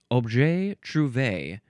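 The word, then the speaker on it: objet trouvé: But the synonym I will try to pronounce this. It is object or obje. That's the first word. The second word is t r o u v e with the acute accent on the e. Obj truv is how I would like to say it.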